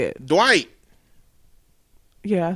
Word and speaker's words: Dwight: do you say it Dwight yeah I say I put more emphasis on the D white okay all right